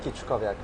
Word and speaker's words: Kiczkowiak: Kiczkowiak.